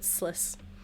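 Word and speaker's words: Sluis: Uh, it's spelled L U S L U Ys, but Sliss.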